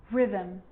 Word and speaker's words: rhythm: And with an R, rhythm, or rhyme.